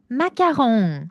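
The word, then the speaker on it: Macron: 아까 우리가 L, M 이렇게 한 것처럼 얘네들이 R을 약간 이야라고 말하는 특징이 있어. 마귀야. 그래서 여러분 아까 콜라 뭐였어요? 꽃가 아니라 꼬야 이랬잖아. 똑같아요. 마공 주로 뒤에 있는 친구들을 야로 바람합니다. 마약. 그리고 이제 저를 인플루언서로 만들어 준 대망의 릴스가 있죠. 마공. 마홍 예 마크홍은 프랑스 대통령 이름이고요. 마공은 디저트 이름입니다. 그래서 발음의 차이는 마홍 마.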